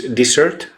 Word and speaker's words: dessert: This dessert? How do you say? Yeah, Dessert. Not a desert. Dessert. yeah.